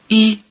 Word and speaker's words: 一: "Yī" has the falling tone when followed by any syllable except one with another falling tone, then it has the rising tone.